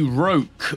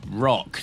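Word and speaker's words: Rokh: First of all, the Roque, or the Rock. There's actually no good pronunciation guide on this one. It does depend very much where you're from.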